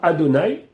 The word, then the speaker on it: Adonai: seule fois maintenant pour les besoins du Shiur Adonai. Alors, on écrit Yud Kevavke, mais on prononce Aleph Dalet Nun Yud.